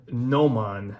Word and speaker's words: Gnomon: So the bezel insert on the one from 2015, that's this guy, is an aftermarket from Nomon. That's spelled Gnomon and then Steinhart Mods.